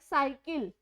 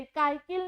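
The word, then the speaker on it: cycle: Like साइकिल, सै से आप यूज करते हो साइकिल, अब उसे हम कै नहीं बोलते, काइकिल नहीं बोलते, साइकिल बोलते हैं।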